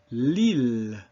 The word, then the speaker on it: Lille: So, Lille, ville, not Lille or ville.